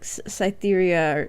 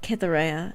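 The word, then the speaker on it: Cytherea: but I don't know to me it looks like it would be spelled like cytheria or scy or something but they pronounce it kithera in the audio book what everybody think about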